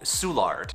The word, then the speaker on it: Soulard: we call carrandalette park and finally there is a neighborhood near the downtown area that has a lot of bars in it and it's called soulard the french don't say